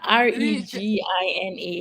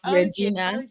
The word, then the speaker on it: Regina: vagina vagina as in vagina University of Regina r e g i n a you'll be tempted to pronounce it as Regina but it's Regina okay okay and you did